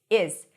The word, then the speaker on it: his: His is pronounced as is.